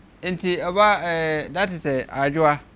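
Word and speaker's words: Adjoa: Inti oba, that is a ajua, right? Ajua. Ajua, so you want to spell it?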